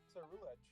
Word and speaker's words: Ceruledge: Ceruledge. That's how you pronounce it, okay.